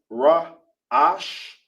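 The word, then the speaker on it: ראש: In Hebrew, it's pronounced Ra Ash.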